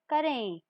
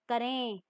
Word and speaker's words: करें: और करें, अंतर उच्चारण में समझिए, करें आया ना, फिर से ऐसी वाली न की हल्की सी साउंड आई।